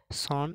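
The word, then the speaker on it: son: Payment, এটা ভুল উচ্চারণ, এটা হবে পেমেন্ট। লাস্ট ওয়ার্ড সন, এটা আমরা সন বলে থাকি, কিন্তু না, এটা সঠিক উচ্চারণ হবে সান।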